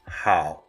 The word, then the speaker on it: 好: of the Mandarin greeting, which sounds somewhat like how in the English greeting, how are you? This section is quite straightforward to remember. The character for this part of the Mandarin greeting is hao, which is a combination